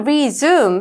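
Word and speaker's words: resume: 자, 동사일 때는 resum 해서 zoom의 엑센트가 있고요. 명사로 쓰일 때는 위에 엑센트가 있어서라고 쓰입니다.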